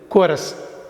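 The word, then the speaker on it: chorus: ரெண்டாவது வார்த்தை வந்து கோரஸ், கூட்டாக பாடுறது, எல்லோரும் சேர்ந்து பாடுற கோரஸ். இந்த கோரஸில் இந்த ஹெச் நம்ம உச்சரிக்கக்கூடாது. இங்கே அகெயின் சிஓஆர்ஓயூஎஸ் எப்படி பேசணுமோ எப்படி உச்சரிக்கணுமோ அப்படி உச்சரிக்கணும்.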